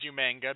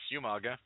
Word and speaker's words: Umaga: William Regal, for months, pronounced it as Umanga because with the spelling in the in traditional Samoan, that's the correct pronunciation. But no, it's Umaga.